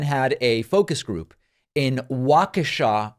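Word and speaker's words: Waukesha: a focus group in wakasa Wisconsin I hope I'm pronouncing that correctly at one point I said wakisha and that's very much wrong I believe that it is wakashaw don't email me about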